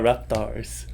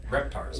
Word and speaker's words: Reptars: the new team the Repars? Am I pronouncing it right? So Raptors. Repars. Reptars. Reptars. Okay.